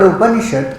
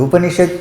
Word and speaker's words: upanishad: This is the study of the now the word upanishad comes from three syllables. Up a knee and sha means close.